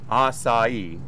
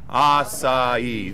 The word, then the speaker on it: açaí: quick tutorial right so I I completely mispronounce assai is that correct let me hear everybody say it aai there we go there